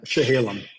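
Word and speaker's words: Chehalem: me straight it's it's chaam how do you pronounce it the shahalam shahalam shahalam I wasn't even close the shahalam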